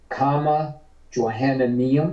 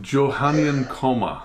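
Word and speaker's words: Johannine Comma: be included in the bible please look up comma johanna neil is that how you pronounce that pastor yeah it's actually johannian coma yeah so so john wrote it johannien and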